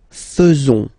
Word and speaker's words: faisons: So it's quite strange because French people tend to pronounce faisons. Okay? So like here, this A-E is not pronounced like normally we should pronounce it like E, but then like E.